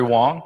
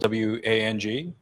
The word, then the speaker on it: Wang: my name is Wong I'm from Humana if you look at my name it's spelled w ang but it's pronounced Wong so if you say Wang you're Wong by far and away the